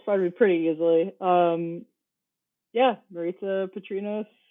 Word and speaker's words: Maritsa Patrinos: Yeah, Maritza Patrinos, rhymes with pizza.